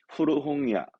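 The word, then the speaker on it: 古本屋: 발음은 추거. 추거. 이거 말고도 훈독이 많았죠. 오래된 낡은 건 그렇죠. 후루이. 후루이. 헌책방은 후르홍야.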